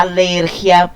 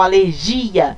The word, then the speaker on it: alergia: em espanhol alergia, porque para falar alergia eu tinha que ter esse i aqui acentuado. Se eu não tenho acentuado, a palavra não é oxítona, ela não pode ter a sílaba tônica aqui nessa posição. Ela vai ter aqui uma paroxítona pra gente no espanhol, tá? Então, eu digo la alergia e não la alergia.